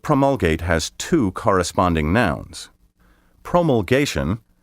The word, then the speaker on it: promulgation: has two corresponding nouns promulgation which may also be pronounced promulgation means the act of